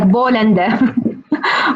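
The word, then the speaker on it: بولندا: Poland is you know that we don't pronounce the letter P, so it's like Bolanda.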